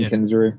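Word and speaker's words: Kensrue: album is Dustin kinu is that how we say that name yeah that's how I've even heard him pronounce it Dustin kinu yeah on guitar and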